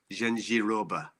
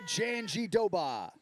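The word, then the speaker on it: Jandiroba: Yeah, but Anik throws a D in there as well, which I'm not exactly sure where it comes from. He says Gengiroba, and that doesn't sound right to me.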